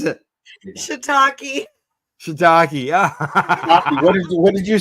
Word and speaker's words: shiitake: There's shit take wedge salad with cannabis blue cheese dressing. Say that again. What is that? Shit take. How do you pronounce it? Shiitake.